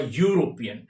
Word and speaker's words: European: Try to spell the word European. It is Yu sound is not Y. Sound is U. Yu. Yu. The sound is U which is a consonant sound.